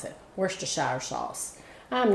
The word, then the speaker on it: Worcestershire: That's what my husband said that's how you're supposed to pronounce it. Worcestershire sauce.